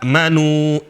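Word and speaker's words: آمنوا: Sebenarnya ya, ya ayyuhalladzina amanu, amanu seharusnya. Cuma hamzah ketemu hamzah, maka hamzah kedua berubah menjadi mad.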